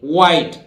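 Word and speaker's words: white: ऐसे बोलते हैं नहीं वाइट एच यहां भी साइलेंट रहेगा ठीक है और वाइट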